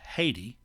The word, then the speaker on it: Haiti: it from saint-domingue to well in english it's pronounced haiti h-a-i-t in french it's pronounced iet the name